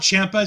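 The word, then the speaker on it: Ciampa: i could call him tommy i used to spell it champa c-h-a-m-p-i-a just to make it easier for myself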